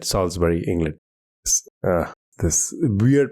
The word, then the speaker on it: Salisbury: when he went to the Palace Theatre in Salisbury, England. And there were a lot of people who I think it's pronounced Salisbury. Ah, my bad. Yes, you're right. Salisbury, England.